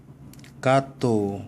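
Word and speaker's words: gato: 또 해 마찬가지입니다. 아, 오, 우가 붙으면 기역 발음이 납니다. 가또, 그죠? 고양이라는 뜻이에요.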